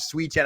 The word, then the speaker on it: Sweetan: Not Bruiser Bob Sweden, but Bruiser Bob Sweeten. I don't know who the announcer was. Steve Stack. Steve. Oh, wow. There you go. Bob Sweeten was the original Buck